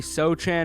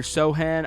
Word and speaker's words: Sochan: Next up on the chopping block right here, 82 overall, Jeremy Sochan or Sohan. I'm pretty sure it's pronounced Sohan. I'm not sure.